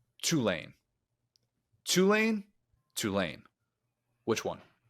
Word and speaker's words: Tulane: Tulane. Which one? I always say like two-lane highway, like a two-lane highway.